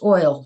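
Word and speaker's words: Oille: you know just it's pronounced oil just like oil like oh so oil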